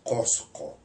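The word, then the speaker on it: Qosqo: Entonces, cosco, ¿no es cierto? Y la pronunciación de esa ca abre la vocal en o automáticamente. Entonces, en realidad pronunciar cos sería imposible. Mhm. Lo espontáneo es pronunciar posco. Y entonces, claro, ahí estamos aparentemente frente a una o pero en el fondo no es una o, sino es una u que se abrió.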